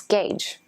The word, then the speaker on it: gauge: but they're actually both wrong the correct pronunciation is gauge gauge to gauge something is